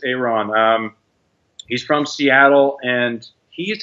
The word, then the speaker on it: Aaron: down hey Ron Jones how do you spell that a aro n or Aaron Aaron but it's Iran he's from Seattle and